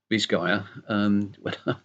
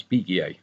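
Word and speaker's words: Bisguier: Walter Brown and Arthur bisg um because I had ol French I used to pronounce that as big but apparently in America you pronounce that bis gu and and uh the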